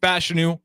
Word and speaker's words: Fashanu: But Fashanu is how you say his last name.